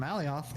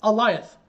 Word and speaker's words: Alioth: do you say like why do you say it like that it's not that's not how you say it is that not how they said it they said it eliath that's how they say oh yeah all right